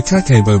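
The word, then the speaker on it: kakeibo: japanese money management kakebo the kakebo budgeting technique from japan is well known and popular worldwide the japanese word kakebo pronounced kakebo means home financial ledger kani matako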